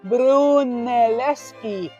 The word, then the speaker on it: Brunelleschi: Brunelleschi.